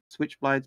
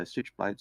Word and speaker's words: Stitchblades: Stitchblade says, "Do we say his name is Stitchblades or Switchblades?" Initially, when I saw his name, I did think of it Switchblades, but I read it as Stitchblades, so Stitchblades it is.